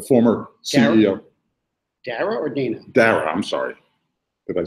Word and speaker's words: Dara: They came up with Dana Khosrow. I'm still not sure how to pronounce it, but like Khosrowshahi, the former CEO. Dara or Dana? Dara, I'm sorry.